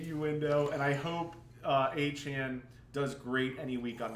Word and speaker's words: Achane: Devon Achane. And his name is pronounced Achane.